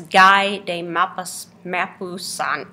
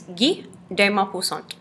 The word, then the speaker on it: Guy de Maupassant: If you look at the spelling of his name, you might think that it's Guy de Maupassant, something like that. But it is French, and it is Guy de Maupassant.